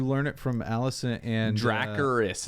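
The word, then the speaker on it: Dracarys: it from Allison and dracaris is how you pronounce it don't care what they're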